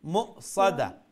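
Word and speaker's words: مُؤْصَدَة: বাট্টি بآياتنا هم أصحاب المشأمة عليهم نار موصدة মুসাদা মিমর পরে যে অক্ষর ই অক্ষর ওয়াও নাই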